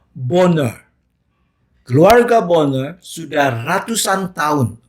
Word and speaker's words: Bonar: keluarga Di Skotlandia dan katanya bacanya boner keluarga banget sudah ratusan